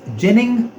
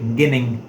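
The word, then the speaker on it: ginning: step is known as jinning. Many of the teachers I have heard calling it gin but I have I have seen the pronunciation of this word on Google it says jinning.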